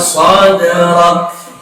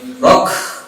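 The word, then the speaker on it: صدرك: Sebenarnya sedikit aja ya, jangan terlalu berlebih juga, jangan sampai rock, nggak gitu juga.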